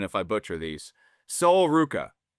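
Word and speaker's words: Sol Ruca: Gently correct my pronunciation if I butcher these. Soul Ruka.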